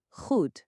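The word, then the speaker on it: goed: O som é totalmente gultural. Escuta com atenção a palavra para bom. Rud, sente o som vindo da garganta.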